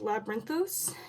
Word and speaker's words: Labyrinthos: for that right now but um it's called labyrinthos it's spelled spell l a b y r i